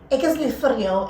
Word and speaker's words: ek is lief vir jou: Although he butchered it a bit. So we're going to say, he said, ek is lief vir jou, and I'll say it in English and say, I love you.